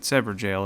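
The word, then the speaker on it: Evergaol: Yeah, I really like the Godfrey Icon, and by the way, I know how to say Everjail now. I know I've been saying that wrong, but it's Everjail apparently, and yeah, sometimes my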